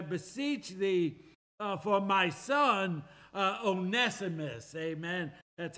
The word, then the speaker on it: Onesimus: He says, "I beseech thee for my son Onesimus," amen. That's how you pronounce that, Onesimus, "whom I have begotten in my bonds."